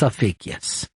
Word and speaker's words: Ophiuchus: I can't even pronounce it. It's like Ophiuchus. Yes, it's Ophiuchus.